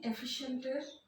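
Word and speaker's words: efficient: হচ্ছে এফিশিয়েন্ট। এখানে হচ্ছে এটা এ সাউন্ড, দেখতে ই এর মতো, বাট এটার নাম হচ্ছে এ সাউন্ড।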